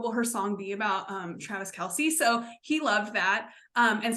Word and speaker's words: Travis Kelce: So Travis Kelce. So we had it right. Some song lyrics to her next song after they break up. What will her song be about? Travis Kelce.